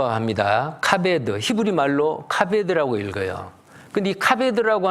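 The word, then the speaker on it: כבד: 카베 더 라고 합니다 카메 엔드 히브리 말로 카베 더 라고 읽어요 근데 카베 들으라고 하는 그 뜻이 바로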